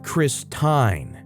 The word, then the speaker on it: Christine: She says, "The I is long because of the E at the end of her name. It should be pronounced Christine."